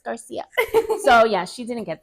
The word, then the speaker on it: Garcia: um she insisted that my last name was pronounced Gara cuz CI in Polish is with pronounced like a sh right right M and I'm like no it's Garcia and she would fight with me all the